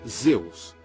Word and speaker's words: Zeus: poderoso deus da tempestade na língua europeia original o nome do deus da tempestade era de auge em grego pronunciava-se Zeus ao nome you